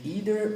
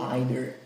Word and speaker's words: either: Você pode pronunciar e você pode ouvir either ou either.